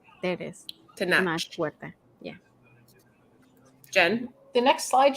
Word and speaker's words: Tenoch Huerta: Okay, I want to pronounce the guy's name real quick. Tenoch Huerta. There it is. Tenoch Huerta.